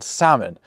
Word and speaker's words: salmon: Like the B in plumber or the L in salmon.